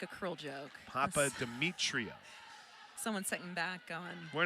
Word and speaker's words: Papadimitriou: It's spelled like it's sour. It sounds like it's spelled. Papadimitriou. That feels like a cruel joke. Papadimitriou.